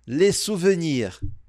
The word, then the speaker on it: souvenir: Lembrando que o o e o u em francês a gente fala u. Por isso que nós pronunciamos suvenir le souvenir.